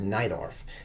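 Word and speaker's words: Najdorf: No, it's pronounced Neidorf because my queen's trapped.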